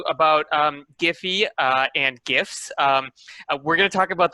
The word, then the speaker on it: GIF: uh what is a gif uh the the pronunciation let's get that out of the way um so some people say jiff uh uh like like the peanut butter um i prefer gif